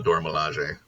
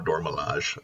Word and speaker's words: Dora Milaje: And then she was also in Black Panther as one of the Dora Milaje or Dora Milaje. It's pronounced both ways, so I don't know how to deal with that.